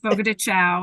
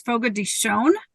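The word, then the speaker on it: Fogo de Chão: the organization yes absolutely so the the correct pronunciation I know everybody likes to say Fogo de Chao and sometimes when I return phone calls like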